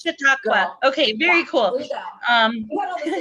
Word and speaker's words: Chautauqua: I hope that's right, because Spanish is my second language, but you're super close, and that's an indigenous word, and it's Chautauqua, but you're super close. Chautauqua.